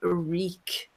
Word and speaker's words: Reek: Then we have Reek. It rhymes with squeak.